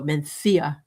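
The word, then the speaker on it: Mencía: Menthia mentha. It's spelled m n c i a, but you go mentha.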